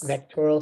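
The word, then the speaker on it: VACTERL: to pronounce this right is it Vader V vectoral or vad vectoral yeah vectoral syndrome yep okay voral oh okay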